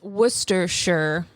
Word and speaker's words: Worcestershire: By the way, it's Worcestershire is how you pronounce it.